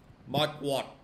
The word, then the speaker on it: Marquardt: Mark, how do you pronounce his last name? Marquardt.